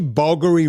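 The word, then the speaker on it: Bvlgari: Like like I said, when you start looking at when you see bulgaryy written anywhere, when a word starts with a B and goes right to a V and is pronounced Bulgaryy, you know you're looking at some expensive right?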